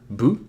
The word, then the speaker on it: ヴ: But be aware that although vu is the character for vu, it actually sounds more like bu, because a lot of Japanese speakers are not used to pronouncing V sounds, as I said.